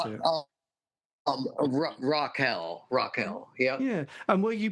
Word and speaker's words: Raquel: Is that how you pronounce it? Raquel.